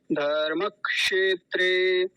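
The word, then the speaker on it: धर्मक्षेत्रे: गया था बचपन में तो गलत उच्चारण क्या है एक बार पहले उसे देख लीजिए फिर सही उच्चारण समझते हैं धर्म क्षेत्र क्षेत्रे ये गलत उच्चारण है सही उच्चारण क्या होगा धर्म क्षेत्रे धर्म क्षेत्रे मैं आपको एक उदाहरण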